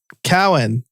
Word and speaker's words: Cowan: All right, I am here with Cowan.